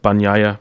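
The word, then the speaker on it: Bagnaia: fourth and then francesco banya that's pronounced banya biscuits just in case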